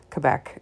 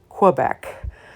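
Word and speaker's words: Québec: right through grade 12 and I know it's pronounced Quebec and not Quebec so uh sorry about that earlier in the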